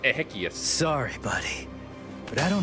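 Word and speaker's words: Exequias: I think it's actually pronounced Ehius.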